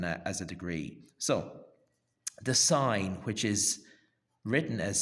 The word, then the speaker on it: sine: a degree so the sign which is written as Sin but pronounced with a signal silent e at the end sign okay the sign of